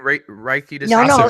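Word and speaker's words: Reiki: pronouncing is he pronouncing reiky it's like Ray like the Rays of the Sun and key like a key in the door okay I was just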